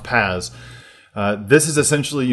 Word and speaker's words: PaaS: you said it's p a a s and pronounced Pas uh this is essentially you know you're building